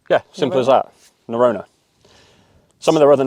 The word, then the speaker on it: Norrøna: for a little while now and that is neurona and that is how you pronounce it right yeah simple as that narona some of their other names might be a